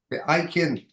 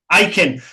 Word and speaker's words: Ikin: Ikin, or Ikin, are we pronouncing that? Ikin. Ikin.